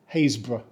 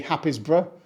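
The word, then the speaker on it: Happisburgh: now they pronounce it hazb we don't say hapb or happyb and if you're trying to find the happiness in this name good look it's pronounced like the start of a haystack now hazb is home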